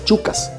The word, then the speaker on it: chukka: pero básicamente son masculinas llamadas chucas se escribe s h u doble k a schucas ese es un nombre en inglés y es como se les conoce internacionalmente los dirigentes del